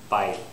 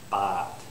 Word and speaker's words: bite: okay again bot bot I did this one wrong I didn't have a y I said bot should actually be bite one more time bot bot again that was a mistake there was no why I just said bot I should have said bite okay very similar vow